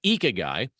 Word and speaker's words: Ikigai: Now, they call the concept Ikigai, and that's a word spelled Ikigai, and it's pronounced Ikigai.